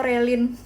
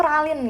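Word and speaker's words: Ralyne: Kayak yang apa yang kita baca surat dia bilang halo Ralin itu aku bacanya halo Relin. Yang benar tuh Ralin guys. Ralin R A L I N bacanya.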